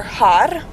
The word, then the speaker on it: har: For Romanian, it could either be gracia or har. Har is the actual word grace, but you could also use gracia as well for the name.